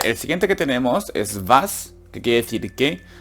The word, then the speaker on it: was: Recordar que no es simplemente decir was, sino es como si la V, en este caso la W de vas, arrastra la W, en plan como si, aguántatelo un poco en la boca, no digas vas, di vas, machst du da.